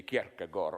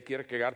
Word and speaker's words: Kierkegaard: I read in a biography of, how to pronounce it correctly, Kierkegaard. Okay, we in the corrupted West say Kierkegaard.